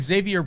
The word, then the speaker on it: Xzavier: Xavier Brooks spells his name XZAVIER. Just in case you don't pick up on it phonetically.